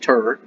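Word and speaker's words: Tyr: tuesday is after two or tear pronounced turret wednesday is named after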